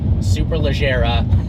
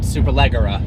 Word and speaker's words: Superleggera: It is not Gallardo, and it is Superleggera, not Superleggera.